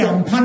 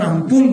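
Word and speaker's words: Amphan: সব ধরুন কিছুদিন আগে আমপুল অর্থাৎ ইংরেজিতে আমফান বলে কিন্তু একটা মানে উচ্চারণ আমপুল হলো যখন বিপদ আসে তখন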